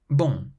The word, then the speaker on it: bon: Bon.